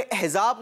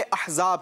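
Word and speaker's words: أحزاب: आपको बताता चलूं कि ये सूरह अहज़ाब नहीं सूरह अहज़ाब है.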